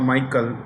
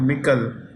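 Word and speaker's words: Michel: European Council European Council European Council Charles or some people called Michael it's actually Michael he's a former Prime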